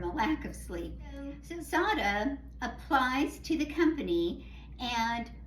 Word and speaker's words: Sarah: The main character is Sarah, pronounced Sada.